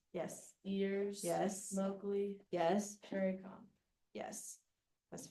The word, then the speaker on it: Shere Khan: Sherry-Con. Yes. That's 5. Good. Can't say it, Sherry. Oh, Shere Khan is how I say it.